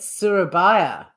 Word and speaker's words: Surabaya: chicken surabaja hang on let me get the pronunciation oh it's a silent giant Surabaya Surabaya Surabaya Surabaya sarabaya Surabaya sarabaya surbaya now